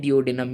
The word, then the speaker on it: duodenum: उन three parts में जो हमारे पास सबसे पहला पार्ट होता है उसको हम लोग कहते हैं डियोडिनम। ये मैं आप लोगों को प्रॉपर प्रोनाउंसिएशन के साथ बता रहा हूँ, डियोडिनम।